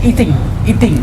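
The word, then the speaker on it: Yijing: Yang paling valid diakui adalah catatan Cina, mulai dari pendeta Yixing ya, Aising atau Yixing, Pak Sidik membacanya Iting ya, Iting. Kemudian Ibnu Battuta orang Arab, kemudian Tom Pires orang Eropa ya.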